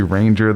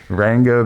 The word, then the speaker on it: Ranga: Twitter at rang uh I always say I want to say Ranger the trainer but it's really ranga the trainer um It's A Hard G that's what he always